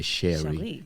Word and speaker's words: Cheri: Almost like French, right? Exactly. Yeah, Cheri.